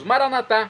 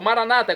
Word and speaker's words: maranatá: E agora eu clamo do aramaico dialeto de Jesus, maranatá, como dizemos nós católicos, ou maranata, como dizem nossos irmãos separados, os evangélicos ou protestantes, não importa, pronúncia, o significado é o mesmo.